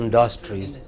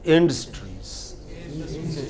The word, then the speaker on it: industries: pronunciation can go wrong what is the pronunciation of the first word here not industries it is industries what is it yeah but a lot of people said industry it is not industry it is industry what is it Jane Street second word